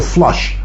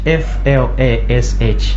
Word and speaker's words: Flash: Now, when you say Flash, is it Flash or Flush? How do you spell it? Flash. F-L-A-S-H. Flash.